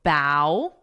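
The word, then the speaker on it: bough: The pronunciation is bow. Let me write that. Bow, which is the same as this motion, what I'm doing.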